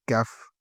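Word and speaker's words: ك: On n'est pas confondre avec Kaf, Kaf.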